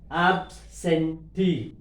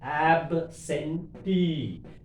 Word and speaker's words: absentee: E, any word end with double E. That last syllable we have. Absentee, absentee. T above we have to.